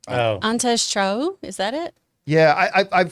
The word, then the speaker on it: Antje: It's a German name. Oh. Antes Cho, is that it? Yeah, I mean, when you read the name, ANTJE. it's a difficult one to Antia. pronounce. It was Antia? Antia.